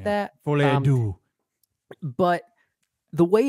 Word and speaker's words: Folie à Deux: So how do you pronounce this? It's Joker Folie à Deux or something like that. Folie à Deux.